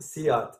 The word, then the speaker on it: SEAT: It's pronounced Seat, spelled seat.